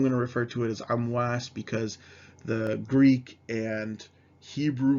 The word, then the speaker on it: Amwas: so the plague of amos or amwas and so a mouse or mos in uh greek and hebrew um likely means that the original arabic pronunciation was amwas but you do see